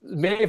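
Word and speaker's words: Medbh: There's no This is Mave. And okay, Mave spelled me DBH, so you have to like pronounce it like, you know, this is written in the Irish.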